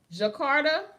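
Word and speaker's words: Djakarta: a part of the Jakarta I'm assum that's thearter it got a D in front of it honey but you know they be like the D is silent like jeno the D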